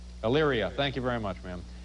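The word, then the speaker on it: Elyria: your friend can some L IRA Ohio I'm not pronouncing that correctly am i Illyria thank you very much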